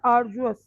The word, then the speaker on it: arduous: 6 word is arduous. हम डी को यहाँ पे you can listen the pronunciation as well. इसे हम arduous पढ़ेंगे. Can you listen? Arduous. डी को जे की तरह करेंगे. Arduous.